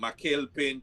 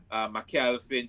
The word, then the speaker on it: McCalpin: That's MCCALPIN, because I know most persons always, get the last name wrong. I've been called so many different last names, uh, from McCalpin to McClarty to McAlpin to McAlpine, but it's McCalpin.